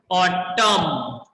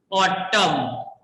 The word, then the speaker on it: autumn: Next word is autumn. Next word is autumn. Here N will be silent.